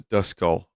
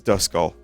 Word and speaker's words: Duskull: How do you pronounce the Pokemon Deli Bird? I say Deli Bird. This is Dusk Skull. Oh, you're right. This is Duskull.